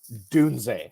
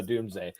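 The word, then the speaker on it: Doubs: him uh um romad dun is calling him like Scott as you said Romeo dun which sounds a lot better than Roma dun I'm with you guys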